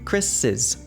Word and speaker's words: Chris's: So all you do is you put the apostrophe after the S and you say it like is, Chris's.